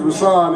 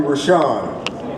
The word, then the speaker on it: Rousan: So, I'm particular about name pronunciation cuz my name is Rousan and people always call me Rashan. That's not my name.